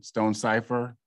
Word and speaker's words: Stonecipher: get in another question or comment uh stone cipher um you had your hand raised please go